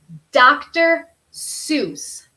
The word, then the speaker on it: Dr. Seuss: Okay, my suggestion are Dr. Seuss. Dr. Seuss books. Doctor como médico, Seuss.